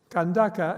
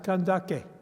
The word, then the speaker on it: Kandake: It is possible in Nubian to pronounce, and even perhaps I would say you should pronounce kandaka as kandake. But it's okay if you use the Arabic.